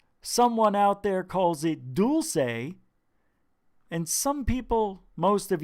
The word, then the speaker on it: Dulce: Someone out there calls it dulce. And some people, most of you, call it dulce. But what is the real pronunciation of this word?